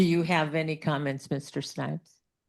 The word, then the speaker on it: Snipes: I'm Snipes. E L L I N G T O N S N I PS like Duke Ellington and Wesley Snipes. Um do you have any comments, Mr. Snipes?